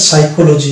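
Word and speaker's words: psychology: যেমন এটা হচ্ছে সাম এটা হচ্ছে সাইকোলজি এখানে পি এর উচ্চারণ আসছে না তাহলে এই দুটি ওয়ার্ড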